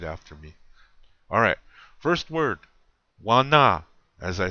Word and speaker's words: Wana: And you say it like this. Listen to how I say it very closely and where I have the accent or the emphasis. Wana.